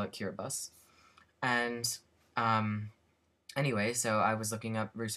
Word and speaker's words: Kiribati: I know that the the ti is not pronounced T obviously um because the word